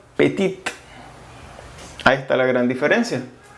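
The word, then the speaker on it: petite: masculino se pronuncia piti y en femenino pettitte a esta la gran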